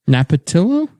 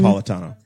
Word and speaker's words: Napolitano: Napatillo? Is that how you pronounce Andrew it? Napolitano.